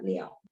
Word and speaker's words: 了: Terus tapi ini juga bisa baca liao.